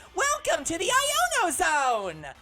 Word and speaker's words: Iono: So in Lano's name, you know how we've been pronouncing it with an L? You mean Iono? Yep. Yeah, no, I'm pretty sure It's an I.